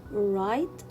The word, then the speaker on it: right: wrong wrong rest wrist i will not pronounce letter w because it comes before letter r so here i will see wrong i will read it rest i will read here right and wrote so in